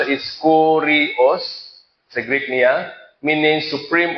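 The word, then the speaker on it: κύριος: Ang Lord sila time is, may pronounce is Kurios, sa Greek niya, meaning supreme authority, supreme master, supreme Lord.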